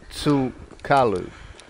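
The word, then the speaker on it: Tsul'kalu: legend of Judah Kula his name was closer to su qalu pronunciation I heard from another source before being butchered by the English language and subsequently by me he was a slant-eyed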